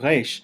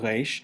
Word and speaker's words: resh: Therefore, you might think of the pronunciation of Resh like that of the letter R in French or German, as in regard or recht, which is